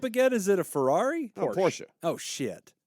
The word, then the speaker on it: Porsche: son of a PS it's pronounced Porsche bonus Point damn bonus Cody thought of everything